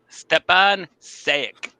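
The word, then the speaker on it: Stjepan Šejić: I'll let you name his name because I'm not sure I'll pronounce it properly, Johnny. Stepan Sayek.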